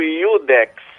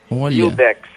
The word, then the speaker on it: iudex: momento no país isso juiz no latim clássico era dito iudex udex básico pronunciava esse J Inicial com o som de i iudex depois ele passou a